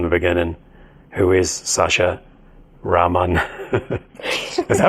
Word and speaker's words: Rahman: Rahman.